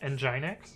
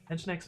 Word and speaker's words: Nginx: For instance, Nginx, I didn't know it was pronounced Nginx for the longest time. I thought it was pronounced Nginx, or at least that's how I said it in my head.